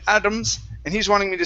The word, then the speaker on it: Adams: okay right here samuel adams uh similar yeah push your tongue forward with the d instead of adam adams it's add atoms uh samuel adams there